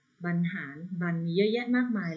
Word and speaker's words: บรรหาร: เขา ต่อ ไป ค่ะ บรรหาร อ่าน ว่า บรรหาร แต่ ว่า เฉลย วะ